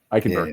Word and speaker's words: Eichenberg: But Liam, who plays for Miami, Eichenberg.